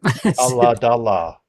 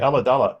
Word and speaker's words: Ulladulla: It's exactly as it sounds. Yep. Ulladulla. Okay, Ulladulla.